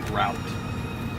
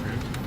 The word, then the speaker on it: route: now and uh and by the way it's pronounced route I knew you didn't say that I knew it did I say root yes when when you said root you said root McCarthy was an area that